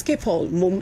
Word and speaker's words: Schiphol: It's Schiphol, as a pronunciation.